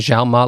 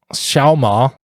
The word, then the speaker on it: Xiaoma: says xiaomalgai might pronounce you're pronouncing the xiaoma like how westerners pronounce the letter z excuse me how'd they pronounce the letter x try to pronounce the x like an s xiaoma better holy [ __